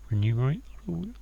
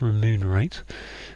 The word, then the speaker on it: remunerate: Renumerate. If you ask me to spell that word without any checkers there, I gone renumerate. But it's remunerate or remunerate. I can't say it very easily.